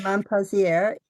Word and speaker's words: Montpensier: In Montpensier.